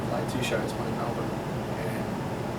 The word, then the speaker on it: Melbourne: So last year we played two shows, one in Melbourne and Melbourne. Is that how you say it? Melbourne? You guys say Melbourne. We say Melbourne.